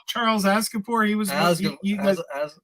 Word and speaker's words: Aznavour: Charles Aznavour. He was. Did I say his name right? No. What is it? It's close. Aznavour. Charles Aznavour.